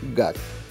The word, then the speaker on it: GAC: узнали что наш дистрибьютор официально называется как мод rus именно так аббревиатуру произносят и российские пиарщики а значит и нам ничто не мешает называть марку гад технических сенсации не случилось